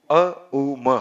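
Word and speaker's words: ओंकार: तो ओमकार में ओ नहीं है, अपितु अ उ म है, और उसका उच्चारण कैसे करना है वो जरा देख लीजिए।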